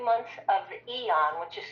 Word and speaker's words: Aeon: And that will give somebody either 2 months of X39 and 2 months of Eon, which is spelled AEON, or 3 months of the X39.